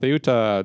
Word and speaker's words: Ceuta: talked about Theuta. That's how you pronounce it.